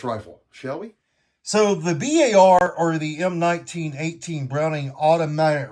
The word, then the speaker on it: BAR: also known as the BAR. No, not a bar, a BAR. Even though a lot of people call it a bar, that's not really the correct pronunciation.